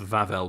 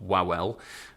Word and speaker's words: Wawel: the coin we have vavel dragon that is pronounced vavel by the way not wow um so the vavel dragon some little birds